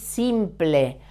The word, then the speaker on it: simple: But here, ensample is simple. I taught you how to pronounce P-L-E in Spanish. It's ple, simple, okay?